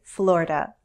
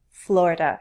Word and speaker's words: Florida: the Sunshine State now as someone from the Northeast I say Florida Florida with two syllables some